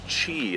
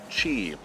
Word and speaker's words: Qi: Tops This is the chi it's pronounced Chi but it looks like Qi but that's how we're